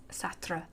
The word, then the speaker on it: Sartre: Sartre.